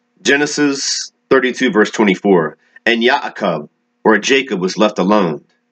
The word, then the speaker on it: Ya'akov: and that great prophet yaakov or jacob as we properly say in the complete translation from the hebrew pronunciation to the modern-day english